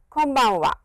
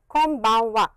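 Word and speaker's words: こんばんは: your lips like this close your lips and it is an M sound so please come one wah can bang one konbanwa so please remember that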